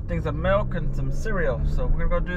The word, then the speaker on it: cereal: In Spanish, if you want to say cereal, you say cereal. See that? Repeat after me, everybody. Cereal. Which is just cereal. It's spelled with an accent.